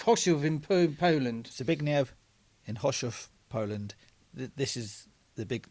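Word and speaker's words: Chorzów: Well, the C is silent in this.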